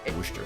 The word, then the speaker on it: Worcestershire: pronounced Worcester sauce.